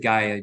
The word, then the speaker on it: Gaia: I pronounce it Gaia, GAIA.